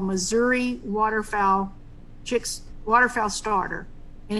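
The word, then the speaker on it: Mazuri: And we use something called Missouri waterfowl chicks waterfowl starter. And it's not Missouri like your state, Mel.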